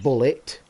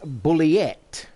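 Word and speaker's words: Bulleit: So oh, by the way, as discussed on the show, it's not pronounced bullet. It's pronounced bulliet. B-U-L-L-E-I-T.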